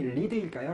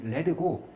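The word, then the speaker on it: read: 자, 1번 문장에서 필기 하나 해드린다면, 자, 여러분 이 단어의 발음이 리드일까요? 레드일까요? 지금 yesterday가 있는 걸로 봐서 시간적인 배경이 어제이기 때문에 이 단어는 발음이 레드고 과거형이기 때문에 해석을 읽었다로 해주셔야 돼요.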